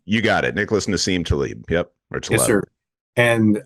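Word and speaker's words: Nassim Taleb: uh by uh I don't know if I'm pronouncing his name correctly but Nim Talib you got it Nicholas Nim Talib yep or yes sir and um I was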